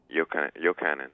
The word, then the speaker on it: Yochanan: Is that how you say his name, Yochanan? Yochanan. Yochanan. Okay, so there you go.